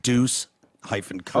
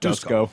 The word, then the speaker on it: Deuceco: It's pronounced Deuce hyphen Co. Oh, it's not Dusko.